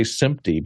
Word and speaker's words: SMPTE: in there and so you pronounce them like so many simp sometimes if you say simpy people don't know what you're talking about but if you say SN pte they know it's an acronym okay there we go